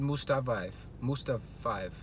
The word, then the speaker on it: Mustafayev: He lost his debut versus Magomed Mustafayev.